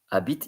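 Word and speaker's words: habite: near that placeit because Abit is h a b i t e and the H is silent in French but this will be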